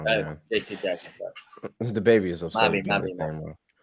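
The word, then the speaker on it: J.C. Jackson: And I think CJ really, really helps that secondary out for the Chargers. So the baby is upset you keep getting his name wrong, man. JC Jackson, sorry.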